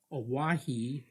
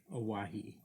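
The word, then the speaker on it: Owyhee: but they misunderstood and the name owahi comes from the mispronunciation of the name hawaii it's it's uh o-w-y-h-e-e owahi the jaspers from the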